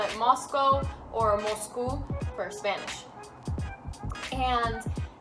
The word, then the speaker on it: Moscow: It's not pronounced Moscow.